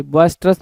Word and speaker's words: boisterous: अगला टर्म देखो क्या लिखा हुआ है, बॉयस्टरस लिखा हुआ है।